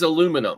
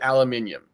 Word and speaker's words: aluminum: they really mean is aluminum aluminum they just pronounce it in Europe they pronounce it aluminium yeah or something like